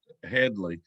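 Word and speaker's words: Hedley: lamar i noticed that they would always pronounce his name wrong in the film and he would correct them if he would correct them headly and i wonder if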